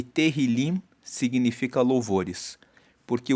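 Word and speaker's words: תהילים: Agora, o livro de Salmos no hebraico, ele é chamado de terrilim. Se escreve t e h i l e terilim significa louvores.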